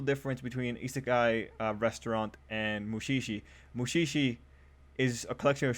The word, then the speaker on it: Mushishi: or uh is it mushishi is that how you say it let me just make sure uh yeah mushishi yeah i thought this